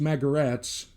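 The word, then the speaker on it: Magarac: legendary Joe Magor hats spelled magirock pronounced McGarrett's because it came from the Croatian word for donkey or jackass the mighty Jill mag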